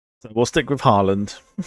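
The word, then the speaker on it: Haaland: Don't you lot pronounce it like Holland or something like that?" I'm like, "No, it doesn't sound right to me."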